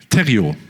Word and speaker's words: Thériault: Thériault.